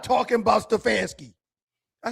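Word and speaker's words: Stefanski: Stefansky.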